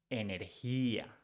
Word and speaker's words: energía: G sounds like H in English. So you don't pronounce energía, you pronounce energía, energía. So energy, energía.